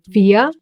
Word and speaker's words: vier: Vier. Fünf. I E will be pronounced like a long slow E.